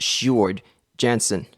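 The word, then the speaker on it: Sjoerd Janssen: It's actually pronounced Shard Jansen.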